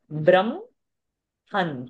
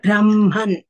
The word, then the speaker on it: Brahman: So ma being a vargiya vyanjana coming in the pa varga, pa, pa, ba, pa, ma. So ma has to be pronounced first. Brahm, han. Ha will come later. Brahman.